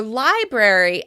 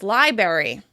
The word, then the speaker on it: library: Some people say "frustrated" as "fustrated" or "library" as liberry."